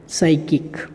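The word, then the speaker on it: psychic: तो ये आप स्पेलिंग याद रखेंगे, न्यूरोटिक और साइकिक, इसमें पी का उच्चारण नहीं किया गया है, पी यहाँ पे साइलेंट है और यह केवल साइकिक का उच्चारण किया गया है।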